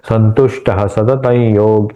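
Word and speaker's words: संतुष्टः सततं योगी: तो कैसे उच्चारण करना है? संतुष्ट सतत योगित य के ऊपर चंद्रबिंदु ये हुआ उसका सत के ऊपर का जो ये है अनुस्वार है उसका उच्चारण संतुष्ट सतत योगी गी इसका दीर्घ उच्चारण यतात्मा त्मा मा का दीर्घ उच्चारण दृढ़ निश्चय संतुष्ट सतत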